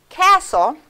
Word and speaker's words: castle: here's that tricky one castle i marked off the t because it's silent but it's old for